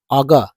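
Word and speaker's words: auger: तो ए यू जी यू आर को इसका उच्चारण हो जाता है अग जी हां दोस्तों र ऑगर का अर्थ होता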